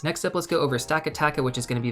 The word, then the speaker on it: Stakataka: So it's going to be Stakataka and Blacephalon. So let's go over Blacephalon first.